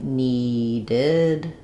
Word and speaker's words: needed: So the ed is going to become the id sounds. So that sounds like needed or wanted.